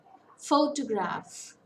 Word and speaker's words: photograph: on the second syllable photograph it's a three syllable word stress falls on the first syllable and biology biology it's